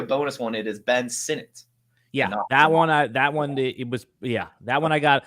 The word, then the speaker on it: Sinnott: So so Sinnott, Lob, not Lobby. Yeah. Flournoy. Yeah. What are some other common mispronounced names this year?